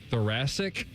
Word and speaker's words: thoracic: Uh, I don't even know how to pronounce this. Thoracic.